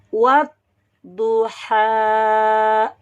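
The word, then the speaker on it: وَالضُّحَى: Mari kita lihat contoh pada kata wadduha. Wadduha. Di sini huruf yang bertasydid atau bertanda syiddah adalah huruf do.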